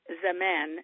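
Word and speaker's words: زمان: Then another word you come across often is zaman. Z-A-M-A-N-N. I'm sorry. Let me do that again. Z-A-M-A-A-N. Zaman.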